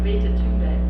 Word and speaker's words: Greta Thunberg: You know, the weight of the world on Greta Thunberg. It's pronounced Greta Thunberg, by the way, in Sweden.